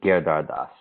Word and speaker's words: Giridharadas: name so uh uh if you could just pronounce your last name for us correctly uh the the name's Anand gardas okay thank you very much now first off